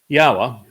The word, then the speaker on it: Yahowah: The O sound from Elohah, God, is provided by the Wah, and it is concluded by the Ah sound in Yahowah's name.